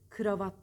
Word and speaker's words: kravat: dillerden geçen bir kelime en ileri arasında ı harfi yok kravat değil kravat burada bu tarz kelimeleri